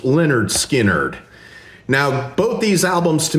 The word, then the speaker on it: Lynyrd Skynyrd: I'm talking about Led Zeppelin 4 versus Leonard Skinnard, pronounced Leonard Skinnard.